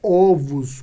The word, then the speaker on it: ovos: não né porque ovos a pronúncia correta da palavra ovos é ovos com a vogal aberta só isso aqui não é um erro de escrita é o erro de fala tá é a pronúncia errada dentro desse contexto tá porque você tem aqui que nós somos e plural metafonico né um ovo dois ovos um osso dois ossos e assim por diante